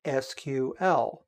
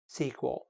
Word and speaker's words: SQL: language they called structured query language also called SQL which may also be pronounced SQL another acronym cod's paper is the basis of